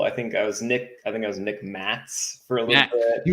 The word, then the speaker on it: Maszk: I've always just told people it's, Maszk. Just ignore the Z.